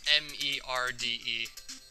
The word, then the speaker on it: merde: Actually, if I'm not mistaken, it's spelled M-E-R-D-E. Pronounced merde.